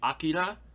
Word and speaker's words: Akira: from uh disney fantastic uh i would say akira which is the proper pronunciation everybody um oh boy vampire hunter d